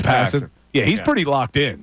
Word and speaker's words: Passan: Is that how you pronounce his last name, Passan? I don't know. Is it Passan? Passan. It's Passan.